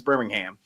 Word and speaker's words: Birmingham: No, that's pretty much how it's pronounced. It's Birmingham.